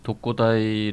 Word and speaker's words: 독고다이: 있을 거란 생각이 듭니다 그 독고다이 라는 원래 말은 이제 특공대 4 맞을 공대 일 본 어 발음으로 읽은 것이고 보통 이제 우리 나라에서는